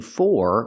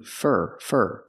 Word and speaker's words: for: Remember, we don't say looking for, we say looking fur. Because for is not stressed, we change the pronunciation. We say fur, looking for.